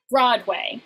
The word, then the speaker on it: Broadway: But generally when you pronounce Broadway, it is Broadway. You put the stress on the first syllable.